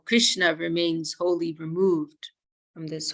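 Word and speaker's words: कृष्णा: names like that too like Krishna Krishna if you with a long a on the end that is a female name like droppity she's also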